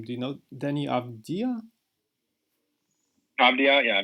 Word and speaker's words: Avdija: Avdija, yeah, Avdija.